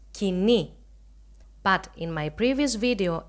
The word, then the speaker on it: Koine: of Bible was written in modern Greek we pronounce it as kini but in my previous